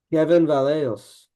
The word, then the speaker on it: Kevin Vallejos: His name his name rhymes with Mevin Callejo's. Kevin Vallejos.